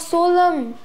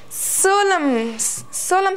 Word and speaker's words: solemn: Now, but what is the pronunciation of solemn? Solemn's pronunciation is like this. Solemn. It's solemn, not solemn. Many people pronounce this as solemn, solemn. But no, N is silent over here.